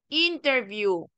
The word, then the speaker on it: interview: en este caso también va a cambiar el acento interview donde se enfatiza en la primera sílaba interview Ahora cuando interviews